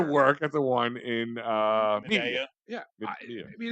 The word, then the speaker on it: Media: I actually used to work at the one in Media. Medea. Yeah, Medea. I mean, it's a small place. It's pronounced Medea, Al.